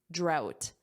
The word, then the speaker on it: drought: How do you pronounce this? Say it. Drought out.